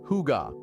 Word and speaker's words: hygge: Pronounced hygge, this Danish word is central to the Danish way of life.